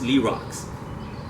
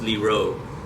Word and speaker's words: Lee Road: It's Lee Rocks, but the proper way to pronounce it is Lee Road.